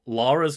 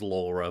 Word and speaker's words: Lara: Well, the first one is Lara's name is often mispronounced as Laura by Americans.